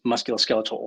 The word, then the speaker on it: musculoskeletal: the beginning um yes muscular skeletal ultrasound is probably the most correct way to say it a lot of